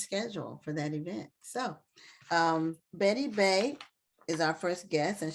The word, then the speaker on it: Baye: Baye. Oh, thank you for letting us know. We don't like to see people's names wrong. It wasn't an accent on there, so I thought it was Baye.